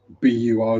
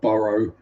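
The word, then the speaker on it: borough: And and anywhere that's bar or it's always pronounced B, however it's spelled. Whereas B R B O R O U G H. B U R G H. It's bur. It's not B or burrow.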